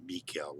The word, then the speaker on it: Michael: And over here it shows, here's my grandfather, John, Jan, Michael, or Mikael, we pronounced it.